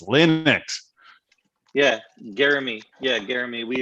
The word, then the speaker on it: Linux: even linux they're like it's linux it's not linex it's linux yeah jeremy yeah jeremy